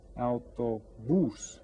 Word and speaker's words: Autobús: Autobús. and we stress this last syllable with the accent on it.